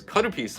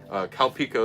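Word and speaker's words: カルピス: non-alcoholic, you can use karupis with it. Calpico is what they call it in America. They totally butchered the pronunciation and the spelling. Don't know how, but they did.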